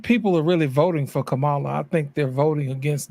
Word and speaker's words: Kamala: That word is pronounced Kamala.